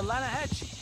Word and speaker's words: Lanahatchee: You mean the Lanahassee River? No. The Lanahatchee. It runs right near here. Yeah, but it's pronounced Lanahassee.